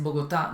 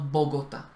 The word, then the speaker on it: Bogotá: Que Bogotá es Bogotá, no Bogotá. ¿Sí? Sí, los eslovacos siempre dicen Bogotá, no dicen Bogotá.